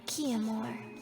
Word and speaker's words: Chiamour: I am Chiamour. Chiamour. That wasn't on the menu of thoughts of how to pronounce this, but okay.